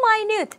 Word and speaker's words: minute: 미닛이 물론 이렇게 명사로 쓰였을 땐 미닛, 1분, 2분 할 때도 미닛이지만 형용사로 쓰이면 minute이라고 읽고 아주 미세한이란 뜻이에요.